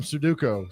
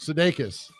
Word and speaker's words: Sudeikis: I about called him Sudoku. Sudeikis.